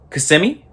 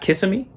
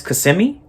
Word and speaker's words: Kissimmee: Before I get back to the video, it's pronounced Kissimmee. It's not Kissimmee. It's Kissimmee. All my Floridians out there, it's Kissimmee, not Kissimmee.